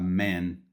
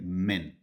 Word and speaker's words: man: A man, esse man aqui é um homem, é com a, então é a pronúncia mais aberta, man. Tá? Man, a man. Aqui, se fosse no plural, homens, seria men, um pouco mais curto com e man.